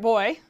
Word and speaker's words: boi: Because it, when you said it, I mean, you pronounce it, right? Boy. A little hint in the word there. Except not, you know, you look at it and you're like, well, there's a letter that's different.